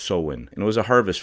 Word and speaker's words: Samhain: It says its origins come from like 2,000 years back, ancient Celtic festival pronounced Samhain.